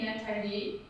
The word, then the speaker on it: Nathalie: Natalie. Natalie. Who named you? Well, it's actually Nathalie in France, from French because my parents were French, and it's spelled Nathale.